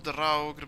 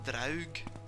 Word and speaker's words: draugr: of drag around here i call them draugr because uh they've got the r in there that's norse old norse oh that's not there